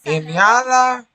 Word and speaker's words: inhala: most people it's quite cacachuta, simple cacachute, to know that marijuana, the H is not pronounced. So it's inhala, exhala, now we go to almohada.